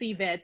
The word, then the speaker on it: Yvette: I feel like I mispronounce it every other time. No, you're fine. It's Yvette.